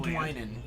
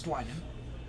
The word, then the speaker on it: Dwynen: So I pronounce it Dwynen. It's Dwynen. There's a Y there. It's Dwynen. It's not Dwynen, it's Dwynen.